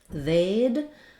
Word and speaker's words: they'd: They'd has the A diphthong. So I've rewritten this like the word paid, but with the TH, they'd tell you if